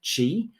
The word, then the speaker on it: Qi: need for a cable it is pronounced Chi although you'll see it spelled q i from a hotel point